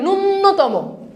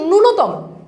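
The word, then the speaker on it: ন্যূনতম: আমরা অনেক সময় বলি নূন্যতম নূন্যতম না এটার উচ্চারণটা হচ্ছে নূনতম এটার উচ্চারণটা কি নূন্যতম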